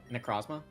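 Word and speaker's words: Necrozma: Necrosma.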